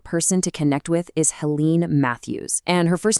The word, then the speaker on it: Helen: A fantastic person to connect with is Helen Matthews, and her first name is pronounced Hela.